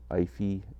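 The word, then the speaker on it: Aoife: name of Ivy Donovan it's spelled a o i f e a o i f e that's her first name ify and Donovan check her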